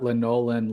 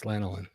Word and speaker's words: lanolin: Oh, yeah, it's lanolin. Yeah, well, I never heard linolin. it called linolin before. Maybe that's how they say it down in old Missouri.